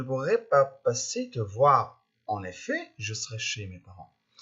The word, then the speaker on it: en effet: اللي بعدها en effet. Ici, on ne doit pas prononcer le T final. En effet. C'est pas en effet, mais en effet.